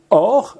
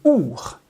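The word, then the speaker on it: אור: Ça s'écrit de la même façon, ça se prononce autrement. Il y a or, lumière incréée, qui va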